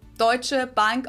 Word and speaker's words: Deutsche Bank: Deutsche Bank also literally means German bank, and Americans usually pronounce it Deutsche Bank or something along those lines.